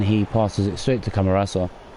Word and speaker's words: Camarasa: Oh, and then he passes it straight to Camarasa. Or Camarasca. Didn't read his name properly. No, it is Camarasa, I said it right the first time.